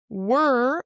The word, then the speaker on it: were: So where rhymes with air were where were rhymes with her.